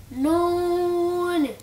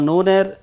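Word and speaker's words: نون: প্রিয় দর্শক, অনেকেই এই হরফটিকে নু বলেন। আসলে নু বলে কোনো হরফ নাই, মূলত নুন। কারণ এই হরফটি সূরা নুনের প্রথম আয়াতের অংশবিশেষ। অতএব এর উচ্চারণটাও ঠিক করতে হবে এবং সহি করতে হবে। বলতে হবে নুন। সবাই বলুন।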